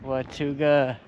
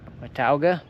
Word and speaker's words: Watauga: Just crossing with Watuga Dam, I guess. Watauga. I've been saying it wrong this whole time.